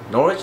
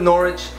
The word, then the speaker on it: Norwich: boom Norwich that no norch no Norwich I know a subscriber um he corrected me on how to say it so we're going with Norwich and instead of just